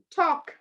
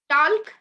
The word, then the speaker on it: talk: do we say walk talk no right chalk another example so L goes silent walk talk chalk C half